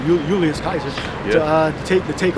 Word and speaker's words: Caesar: there they told Julius Caesar to uh or Julius Kaiser pronounce it correctly Julius Kaiser to uh take to